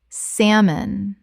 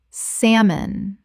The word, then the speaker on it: salmon: Word 185 salmon common mispronunciation salmon correct pronunciation salmon The l is completely silent. Two syllables only.